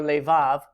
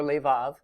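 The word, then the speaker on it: לֵבָב: under this, so both of these are actually pronounced kol. In the upper left we have the word lev or levav. There's an alternate spelling there, lev or levav, and that's translated heart.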